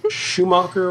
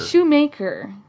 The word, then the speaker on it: Schumacher: even though he doesn't so was it schumacher or shoemaker shoemaker she was a maker maker